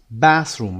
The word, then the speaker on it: bathroom: A bathroom تلفظ bathroom، استرس روی bath که حمام دستشویی هست.